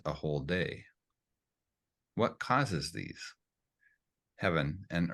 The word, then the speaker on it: Tao: One who follows Da, remember, T is actually pronounced Da.